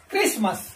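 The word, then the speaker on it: Christmas: तो यहां पर आप देखेंगे टी जो है इसका हम प्रोनाउंसिएशन नहीं कर रहे, इसका उच्चारण नहीं कर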